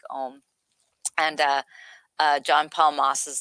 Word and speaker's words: AUM: It's like they spell it AUM, but it's like Om, and John Paul Moss